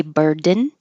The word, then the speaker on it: burden: and girls reg reg you can say burden but more likely this is going to change to a cabic n where the N becomes a syllable all by itself your tongue goes up for the D bird n burden bird the same thing